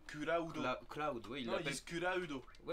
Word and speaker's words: Cloud: Clad. Donc, non, parce que dans le film Advent Children, il dit bien Kulaudo.